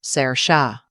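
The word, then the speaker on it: Saoirse: It's pronounced Sarah. Belle picked it. She said it meant freedom in Irish.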